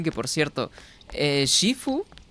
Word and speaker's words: Sifu: que por cierto eh Shifu yo le llamo así porque o sea pronunciar Sifu hasta parece que fuese equivocado esa pronunciación siendo que es una palabra pues asiática entonces yo me siento más cómodo llamándole Shifu y Shifu se quedó para mí pero de todas formas